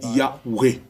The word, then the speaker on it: Yahweh: Alors, dans la prononciation anglaise, c'est WJ, d'où nous avons le mot Yahweh.